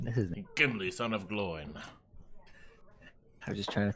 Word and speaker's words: Gloin: Did you say his name was Groin? No, Gloin.